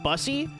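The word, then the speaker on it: Bussi: It's pronounced busy.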